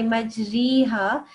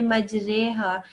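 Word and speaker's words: مجراها: So we won't say majriha, we'll say majriha. And that's just how it is, because that's how they said it in the Holy Prophet time.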